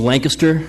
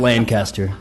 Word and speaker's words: Lancaster: Rogers, if I could as a proud 1997 graduate, it is pronounced a Lancaster ISD and not Lancaster.